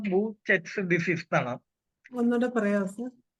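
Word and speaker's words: Behçet: പറയുന്നത് ബി ഇ എച്ച് ഇ ടി എന്നാണ് അതിന്റെ ഉച്ചാരണം ബൂച്ചസ് ഡിസീസ് എന്നാണ് ഒന്നുകൂടെ പറയാം സാർ ബി ഇ ബി ബി ഇം എച്ച് സി ടി എച്ച് സി ഇ ടി ബി ഇ എച്ച് സി ഇ ടി അതിന്റെ ഉച്ചരണം ബൂ ചെറ്റ്സ് ഡിസീസ് എന്നാണ് ബൂച്ചെറ്റ്സ് ഡിസീസിനെ കുറിച്ച് സ്റ്റൊമറ്റൈറ്റിസിനെ കുറിച്ച് പറയുമ്പോൾ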